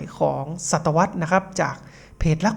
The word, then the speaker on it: ศตวรรษ: ครับ ศตวรรษ นะ ครับ ก็ อ่าน ว่า ศตวรรษ นะ ครับ หมาย ถึง